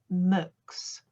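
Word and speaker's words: Mx: the thought no moocs capital m small x pronounced mux i'm non-binary is that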